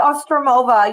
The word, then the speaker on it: Ostroumova: though you did well it's ostromova you did perfect now what was the